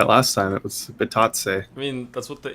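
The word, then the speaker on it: Bitadze: It's not Bididits. Bitatse. Really? It's not. It's definitely not Bididits. That's what it says, Chris. No, we looked at it last time. It was Bitatse.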